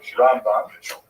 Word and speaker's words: Rambam: Rambam is pronounced with the emphasis on the first syllable, Rambam.